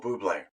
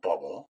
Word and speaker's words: Bublé: hey, our own Michael Bublé, exactly. not Michael Bubble. I've had to correct a lot of people on how to pronounce his last name. It's Michael Bublé with the cedilla over the E.